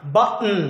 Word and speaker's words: button: 자, 여러분들 트 발음하고요, 이 은 발음 합치면 코로 소리가 나요. button. 이렇게 먹는 소리가 나죠.